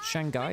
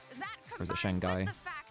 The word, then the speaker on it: Shanghai: Is it Shangai? Is that the pronunciation of it? Pronunciation is Shanghai. I thought there was an H in there.